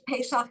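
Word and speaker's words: Pesach: them everything so it's it's pesak is how you say it in Hebrew and Passover is in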